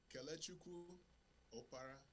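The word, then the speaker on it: Kelechukwu Oparah: Man, tell everybody the correct pronunciation of your name. I don't want to mess it up. Kelechuku Opara is my name.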